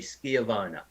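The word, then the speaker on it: schiavona: you start like that they say it's it's a hard c ski of owner and i say well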